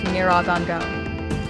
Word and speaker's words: Nyiragongo: And unlike Nyos, Kivu sits beside one of the most active volcanoes in Africa, Mount Nyiragongo, pronounced Nyiragongo.